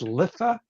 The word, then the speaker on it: Litha: see so um the the summer solstice I believe is pronounced litha it's between it's you